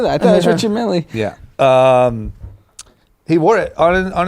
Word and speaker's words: Richard Mille: He wore, during the game, a $250,000 Richard Mille, that's probably the hip-hop pronunciation, Richard Mille watch.